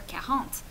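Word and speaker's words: quarante: was a French student I could never remember the word for kahant and the way I finally memorized it would I was always think of a carrot because it sounds sort of like the word for carrot so let's pronounce a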